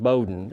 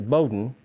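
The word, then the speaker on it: Bowdoin: of Maine four times, became the president of Bowden College, and that's how they pronounce it, Bowden. It looks like it's bowin b i n but they pronounce it very proudly. Bowden and he taught every class at Bowden except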